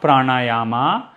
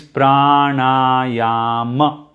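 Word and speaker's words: प्राणायाम: a's here okay so pra na ya ma not pranayama okay not pranayama again this is something i've heard a lot of non-indians say pranayama but it is not pranayama it is pranayama okay then same with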